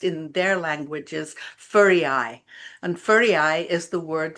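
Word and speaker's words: Føroyar: And Faroe actually is pronounced in their language as Furiai, and Furiai is the word for sheep island.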